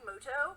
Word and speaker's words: Muto: turn wait a minute is that yugi muto actually his name is pronounced yugi moto we'll see about that